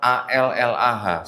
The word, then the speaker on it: Allah: Tetapi di dalam kitabnya orang Kristen ada kata A-L-L-A-H. Saya bacanya Allah Pak ya. Karena nggak ada tasdid Pak, jadi saya baca Allah Pak.